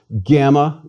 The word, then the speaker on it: gamma: a bit more familiar gamma is always pronounced hard gah as in girl never J as in gymnasium please repeat gamma gut Delta Delta is